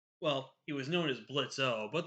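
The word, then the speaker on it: Blitzø: Well, he was known as Blitz O, but the O is silent, so it's Blitz.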